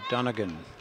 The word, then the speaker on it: Donegan: Jorgensen into Donegan. I believe that's how she pronounces her name, because although it begins with a D, it's spelled much like Mulligan.